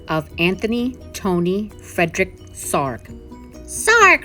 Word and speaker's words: Sarg: Sarg rhymes with arg!